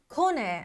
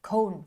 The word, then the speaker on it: Kone: how, you know, how what what how you pronounce Kone?" Uh or cone, cone, and and I say, "Kone."